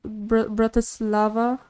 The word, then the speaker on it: Bratislava: they just want to read you about this Bratislava yeah that's how you say it and they